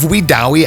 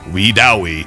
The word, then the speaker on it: Wedowee: of that is located near the town of wewi Alabama wewi I'll have that on the screen in casee you're wondering how it's spelt but I had a great weekend I